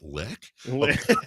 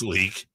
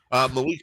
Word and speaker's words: Malik: Malik Monk. This is basketball. Malik Monk is okay. I don't know what to do with. Oh, okay. Because it's spelled L-I-K. I was like, lick. Assuming that's leak.